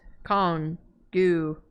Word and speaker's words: Kongu: When in Pronunciation for Kongu is Kongu.